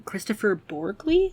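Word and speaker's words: Kristoffer Borgli: new a24 movie called the drama uh from Christopher borley I think is how you say his name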